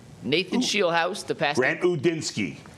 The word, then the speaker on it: Udinski: Grant Udinski. Udinski.